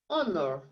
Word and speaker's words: honor: Se eu apagar essa letrinha aqui, ó, a letrinha H, ela não vai ficar com um som de vogal? Honor.